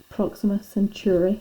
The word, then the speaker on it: Proxima Centauri: pronounce everything wrong okay i've always pronounced this proxima centauri and but i have heard other people pronounce it proxima century i think that's why mrs turner pronounces i'm not sure about mr ross actually and so apologies if i'm pronouncing that wrong proxima centauri i don't